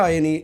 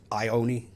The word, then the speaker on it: Ioane: Rico Ioni is a Ioane, Ioane, mate. Ioane. How do you say it? I think it's Ioane. Ioane. Rico Ioane. Rico. I've been taken to task on that.